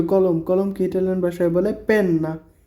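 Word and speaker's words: penna: পেন কলম তো কলম কলমকে ইটালিয়ান ভাষায় বলে পেন না পি ই এন এন এ পেন না তারপর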